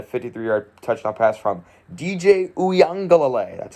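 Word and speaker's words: Uiagalelei: hauled in a 53-yard touchdown pass from dj uyangalalay that's how you pronounce his name i know a lot of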